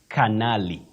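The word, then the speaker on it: colonel: word c o l o n e l colonal how do we go about that one well in or if you like you say Canali Canali so and so but when you come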